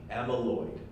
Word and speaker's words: amyloid: you were taking notes amyloid is spelled a and Y like a mean and then Lloyd LOI D amyloid so tau tau is